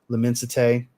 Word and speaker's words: L'Immensité: This is kind of like Louis Vuitton's L'Immensité, as I've been told that's the proper way to pronounce it.